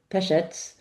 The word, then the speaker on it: Pesec: I am delighted to welcome Pesettz to the show.